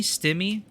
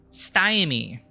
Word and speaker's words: stymie: for the Nations that enslave them to stymie stimmy God I need to pronounce things properly stymie the stymied the urge to flee or the